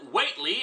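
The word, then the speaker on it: Whatley: a mysterious man named Watley and I know I'm supposed to pronounce it waitley after the minor character from one HP Lovecraft story but screw that this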